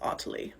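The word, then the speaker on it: Otty: Stephanie I also love oty but it only works in the UK because it should be pronounced Otti and I think we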